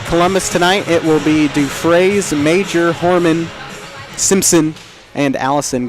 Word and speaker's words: Dufresne: Okay, I'm going to let you pronounce her name because I honestly, Dufresne, is that it? Yeah, Dufresne.